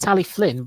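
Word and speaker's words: Talyllyn: Well, it's pronounced Tally Flynn, and yet there's no F in the name.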